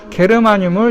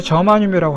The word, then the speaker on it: 저마늄: 과학 용어로 옛날에는 이제 독일어 발음으로 이렇게 많이 썼는데, 요즘은 과학 용어를 영어식으로 많이 바꾸고 있어요. 그래가지고 이렇게 게르마늄을 이제 저마늄이라고 하고, 그 다음에 불소는 이제